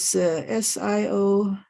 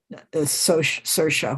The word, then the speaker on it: Saoirse: When I say Saoirse Ronan, her name is Siore, something like that, and it's an Irish name pronounced Saoirse, which you would never dream of pronouncing it that way.